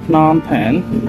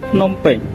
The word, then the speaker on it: Phnom Penh: We pronounce it Phnom Penh, but in our language, we pronounce it Phnom Penh.